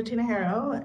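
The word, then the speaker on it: Tinajero: record please uh sure my name is tinajiro it's spelled s-a-n-d-r-a last name is t as in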